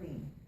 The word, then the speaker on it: Lee: And, you pronounce it La or Lee? Lee. Lee. Lee, founder and chairwoman